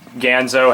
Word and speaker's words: Ganzo: these two knives are made by Gonzo or Ganzo however you wish to pronounce it I pronounce it Gonzo um if you guys